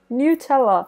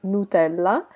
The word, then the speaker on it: Nutella: recipe it is with Nutella so I am Italian so I normally pronounced this Nutella there is the Italian name but I know that in English you pronounce this as Nutella let me know in